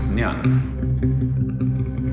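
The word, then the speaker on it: 念: It's pronounced Nyan.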